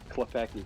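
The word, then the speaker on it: Klepacki: Klepecki, yeah. Okay, that's not so bad then. Like, it's spelled way scarier than that.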